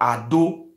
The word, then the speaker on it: Edo: Edo, the full pronunciation is not called Edo, it's called Ado.